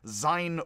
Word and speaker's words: Sein: z sounds so actually instead of sign on zeit which i actually did say it's sein unt sight i believe and i